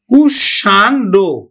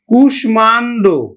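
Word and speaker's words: কুষ্মাণ্ড: নিয়ম অনুযায়ী নিয়ম অনুযায়ী কিন্তু এখানে উচ্চারণ হতো কিন্তু দেখো কুষ কুশান কুসান্ড উচ্চারণ হতো কিন্তু কুসান্ড উচ্চারণ হত কুসান্ড কুসান্ড কিন্তু নয় আমার উচ্চারণ হবে কিন্তু কুসমান্ড কুষ মান কুষমান্ড উচ্চারণ হচ্ছে কিন্তু দেখো কুষমান্ড উচ্চারণ হচ্ছে কুশমান্ড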